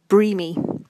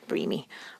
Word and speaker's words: Breamy: So it's pronounced Breamy. So Brienne and Jamie. Breamy. Because they're so dreamy.